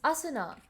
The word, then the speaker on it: Asuna: How do you pronounce Asuna? It's Asuna.